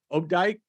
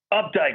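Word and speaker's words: Opdyke: with your last name it's og dyke updike like it should be spelled with a u i've got it that's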